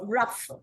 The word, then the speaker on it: rough: Now, when you have something like rough, see, OUGH, you're getting the uff sound, isn't it? You're getting that uff, rough, uff.